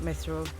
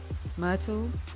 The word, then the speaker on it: Myrtle: Not Mithril. Myrtle, because we said it rhymes with turtle, right?